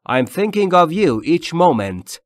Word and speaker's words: thinking: من دارم به تو فکر میکنم هر لحظه thinking thinking یعنی من فکر میکنم تلفظش ت نیست و همچنین هم نیست ایش